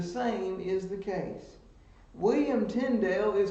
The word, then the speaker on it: Tyndale: pronunciations of that name it either comes down to tyndall or tyndale most english scholars that i know of pronounce it tyndale so that's the way i do if you are holding